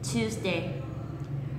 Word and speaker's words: Tuesday: Và nhấn vào trọng âm ở âm tiết đầu tiên. Tuesday.